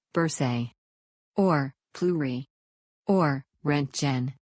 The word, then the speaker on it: bursae: a general role remember every time you have two vowels after each other pronounce the word with the sound of second vowel bursae or flurry or rent